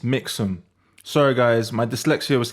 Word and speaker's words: Mixam: Insta um he show me a service called Maxum am I saying it right no no Rick it's mix them sorry guys my dyslexia was kicking in this